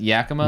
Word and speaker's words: Yakima: Yakima. That's how you pronounce that. It's Yakima.